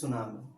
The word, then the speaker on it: tsunami: See the pronunciation, उच्चारण देखो, लिखा है टी tsunami, but T is silent. It is tsunami.